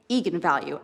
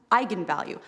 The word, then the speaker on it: eigenvalue: the directors that yes that is how you pronounce it so I went out there and said that's right egon value and then apparently the internet went nuts when it came out because apparently it's pronounced eigenvalue that's how you're supposed to say I'm the